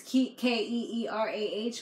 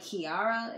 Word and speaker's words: Keerah: I think it's pronounced Keerah because it's Keerah, but they kept on saying like Kiara.